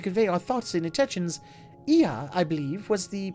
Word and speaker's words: Ea: When the vibration of vocal folds was still required to convey our thoughts and intentions, Ia, I believe, was the pronunciation used when referring to our people.